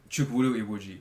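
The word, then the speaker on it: Chukwudi Iwuji: Chukwuru Iwuji.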